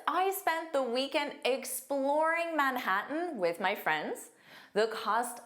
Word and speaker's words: Manhattan: Manhattan. Manhattan. Now, did you notice I did not pronounce those T's at all?